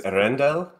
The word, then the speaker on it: Earendel: The name is Earendel, and it's an old English word that means the morning star.